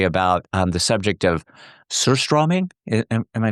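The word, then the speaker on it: surströmming: You open your book with kind of a very personal story about um the subject of curst straw maybe. Am I pronouncing it? Cstrom.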